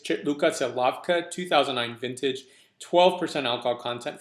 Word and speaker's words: Žilavka: So if you want to go to your wine merchant and ask for Žilavka, don't worry about the pronunciation. It's exactly as you see here.